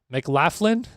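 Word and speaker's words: McLaughlin: Emphasize the laugh part. Mclofflin. McLaclin.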